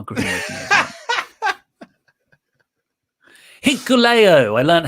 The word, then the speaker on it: Hikuleo: Hikuleo, I learned how to say it, took on Lance Archer next for the United States title with Haku coming out, King Haku.